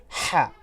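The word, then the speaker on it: ح: সুবিধার্থে যদি বলি যে হা হরফটি আমরা অনেক সময় এই ধরনের আওয়াজ করি এ ধরনের আওয়াজ করি এই আওয়াজটা আমরা যে স্থান থেকে করি সেই স্থান থেকে আমরা উচ্চারণ করব হা এই হরফটিকে বেশি বেশি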